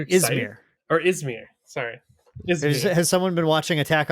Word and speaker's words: Yzmir: I just always pronounce it as Ymir in my head because it's just Ymir. So I'm like, Ymir. Yeah, but the Z. You're right. My brain just skips over the Z.